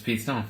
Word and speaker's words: P Stone: All right, it's spelled P_STONE. So it's Preston, except for with a little flair added onto it. You drop the R Yeah. and you drop the E.